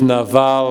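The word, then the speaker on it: Nabal: of a heart attack his name is in Hebrews neva I guess navel in English pronunciation and neva means something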